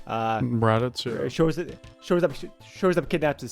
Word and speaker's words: Raditz: Shortly after, his evil brother, Raditz, I believe it's pronounced. Raditz, yeah.